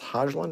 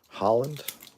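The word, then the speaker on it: Højlund: Is that pronounced Hojlund or Holland? Holland.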